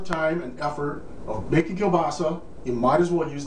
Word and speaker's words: kielbasa: I've heard people say kabasa my wife saw y used to call it no NASA or nabasa but believe me it's called It's pronounced Kil basa kill as in Kill and basa is in